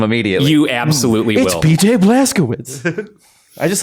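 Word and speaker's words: Blazkowicz: that name and well you'll never hear anyone pronounce it that way throughout the entire game he's blessed Kovich blessed Kovich yeah BJ bless Kovich BJ bless Govich so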